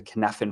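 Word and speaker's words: Cynefin: you have already seen it it's called the canaffin framework in case you wondered how to pronounce that and what is the kidnapping framework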